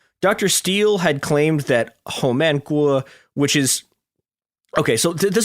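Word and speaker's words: Homan Kwok: Steele had claimed that Home Gu, which is Okay, so this is where things get weird.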